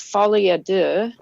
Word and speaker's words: Folie à deux: And it's not that my pronunciation is going to be perfect at all, but it is Folie Deux.